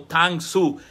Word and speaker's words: Tang Soo: Solamente que al pronunciarlo ahora en coreano, ya no lo voy a pronunciar en japonés karate, lo voy a pronunciar como Tang Soo, la mano de China.